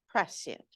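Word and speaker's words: prescient: they take place and I had to listen to the correct pronunciation about five times on my phone p r s th i n t press it press it everybody use it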